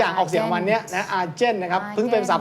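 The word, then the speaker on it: argent: อะไร สัก อย่าง ออก เสียง วัน เนี้ย นะ อาเจน นะ ครับ เพิ่ง เป็น ภาษา ฝรั่งเศส แปล ว่า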